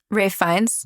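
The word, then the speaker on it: Ralph Fiennes: And this starred Aaron Taylor Johnson along with Jody Comr and Ralph Ray Fines.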